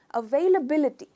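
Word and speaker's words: availability: Stress हम करेंगे बी पर, अवेलेबिलिटी, अवेलेबिलिटी।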